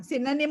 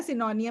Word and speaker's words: synonym: हाँ, सिनोनिम होता है, सिनोनियम नहीं होता।